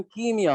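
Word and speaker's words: ischemia: जब भी किसी ऑर्गन या टिश्यू को ब्लड सप्लाई कम होता है, आप कहते हैं इस्कीमिया। इस्कीमिया लिखते हैं, प्रोनाउंसिएशन कीमिया होता है।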